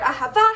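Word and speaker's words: אהבה: The word Ahava, however, actually has the emphasis on the final syllable, which makes it kind of the second rule.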